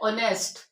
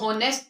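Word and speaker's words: honest: H silent होता है ऑनेस्ट अब इसको नेस्ट तो नहीं पढ़ते हम लोग हावर भी नहीं पढ़ते तो यहां पेज क्या है साइलेंट है ऑनेस्ट आवर ऑनर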